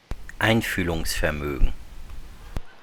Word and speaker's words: Einfühlungsvermögen: Now I'm going to help you pronounce it. Ready? Listen carefully. Einfühlungsvermögen. Okay? Einfühlungsvermögen.